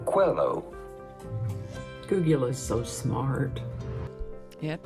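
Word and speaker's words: Coelho: about pronouncing his name Paulo Quello Paulo Quello pretty straightforward once you know Paulo hello Quello Google is so smart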